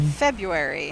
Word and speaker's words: February: think I'm ready did you say febru February February okay February it's like you really that R that's like over pronouncing Labyrinth with like emphasis on the why